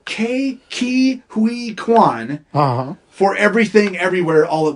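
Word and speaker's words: Ke Huy Quan: yeah and that and I always pronounce his name wrong it's key Ki Hui Kwan for everything everywhere all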